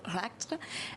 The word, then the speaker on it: Rakitra: rapidement de lui alors rakitra dont le prénom se prononce plutôt rctre euh qui nous vient